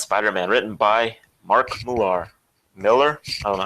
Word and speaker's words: Millar: I'd say Millar because it has an A in it. Yeah. If it had an E in it, then it would be Miller. Like Greg Miller. Mm-hmm. But Mark Millar.